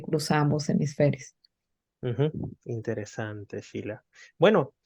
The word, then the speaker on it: Shelah: Sí, me pueden encontrar en mi Instagram, es Sheila, que se escribe Shelah, guión abajo P.